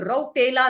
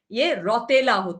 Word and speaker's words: रौतेला: उर्वशी रौतेला, आपका मैं आपको सूचित करता हूँ, वह खुद को उर्वशी रौतेला कहते हैं बुलाया गया, लेकिन उसका आखिरी नाम यह राउटेला नहीं है। रौतेला है .